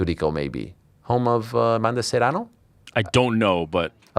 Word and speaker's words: Serrano: Wow, let's roll our R's a little bit, and you're there.